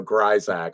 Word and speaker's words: Grisack: c k uh but the S is pronounced like a z so it's just weird you know shot you know it's like you know GAC whatever but uh yeah